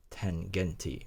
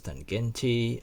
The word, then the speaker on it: Tangente: I hope I'm pronouncing that correctly, because in German they tends to pronounce word as it is written. So Tangente.